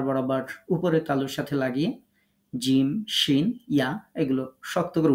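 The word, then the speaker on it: ج: জিহ্বার মধ্যখান তার বরাবর উপরের তালুর সাথে লাগিয়ে জিম শিন ইয়া এগুলো শক্ত করে উচ্চারণ করতে হবে শক্ত করে কথাটা আপনাদের মুখ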